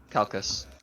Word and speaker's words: Calchas: Calcus. Okay, no, Calcus, okay, we're good. I also have that written down. Yeah. I have it Calchas, but I put in my little parentheses Calcus, like Callkhas for pronunciation.